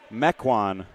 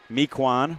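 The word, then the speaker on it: Mequon: pronunciation guide as well Concordia is from mecan Wisconsin I think I said that right instead of mquan which was my guess thankfully we got the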